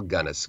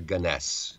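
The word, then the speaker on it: Gunness: a woman named Bel gannis ganis or or ganess uh pronunciations vary on this and she was a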